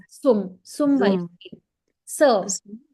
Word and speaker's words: zum: Vedika, Z in German has to be pronounced like sir. So it's not zum, it's sum. Zum.